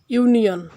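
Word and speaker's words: union: যেমন আমরা দেখতে পাই ইউনিয়ন শুরুতে ইউ আছে কিন্তু এটি ইউ এর মত উচ্চারিত হয়েছে।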